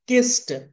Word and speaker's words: kissed: ఇలా whenever we find sa sound at the end of any regular verb, then the ed or d or ied must be pronounced like ta sound. Miss, missed. Kiss, kissed.